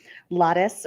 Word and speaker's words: Lares: Lares rhymes with goddess, if that is helpful in remembering the pronunciation.